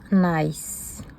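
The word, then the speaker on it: Gniss: G n I 2 S mais ça se prononce Nice et c'est un Tangle de la compagnie Zentangle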